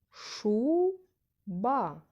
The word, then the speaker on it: шуба: вимовлявся голосніше наступне слово шуба скільки складів в цьому слові два визначимо наголошений склад Перший чи другий шу ба який склад я говорила голосніше перший правильно наголошений склад Перший вбираємо